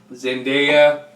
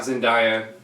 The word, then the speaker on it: Zendaya: everybody's talking about Lord zendaya yes that's how you pronounce it not sandhaya is gonna be Mary